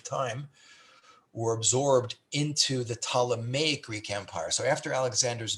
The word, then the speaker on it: Ptolemaic: to be called the ptolemaic with the p is silent the ptalamay greek empire every one